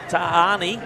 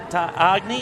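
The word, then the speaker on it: Tagane: It's a silent G spelled tag A N E. Tag A N E. Well, it's Yeah, it's got tag written up there with the zero, but it's uh tani.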